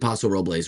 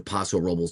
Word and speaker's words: Paso Robles: Watched the game, did Carmel, did Half Moon Bay, did Paso Robles or Paso Robles, depending on how you want to pronounce it, which is an amazing.